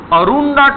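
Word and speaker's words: Arunta: which he found as arunda tries a r u n DTA a t is silent arunda Tri among Australian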